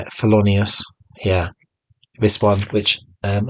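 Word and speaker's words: Thelonious: Colin Hawkins nice cover there swing and uh fonus is that how you say it felonius yeah this one which um a mate said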